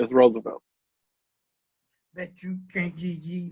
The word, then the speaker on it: Rosevelt: Well, it's spelled R-O-S-E-V-E-L-T. Ain't that Rosevelt? Roosevelt. No, it's Roosevelt.